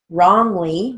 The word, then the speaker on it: wrongly: come back for l-a-e wrongly we're gonna use the w-r even though the w is silent it's spelled w r